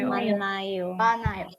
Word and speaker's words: 많아요: manayo. Nah dalam kasus ini hanya itu nggak bisa naik ke atas. Kenapa? Karena ketika dia jadi bacim dia tidak dibaca. Jadi langsung aja manayo.